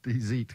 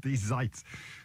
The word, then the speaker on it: Die Zeit: Oh, dear, James, your pronunciation of Die Zeit called me physical pain. It's pronounced Die Zeit.